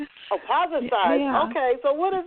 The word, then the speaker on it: Pozercize: Yes, Pozercize.